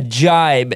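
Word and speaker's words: gybe: All right, a jibe. And this word is spelled G-Y-B-E.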